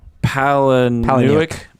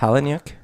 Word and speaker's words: Palahniuk: The novel is by Chuck Palahniuk. Yeah. How do we pronounce it? Palahniuk? I believe it's Palahniuk.